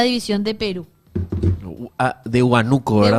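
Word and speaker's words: Huánuco: Ah, de Huanuco, ¿verdad? De Hanuco o de Hanuco en realidad, porque lleva tilde en la A de Huano.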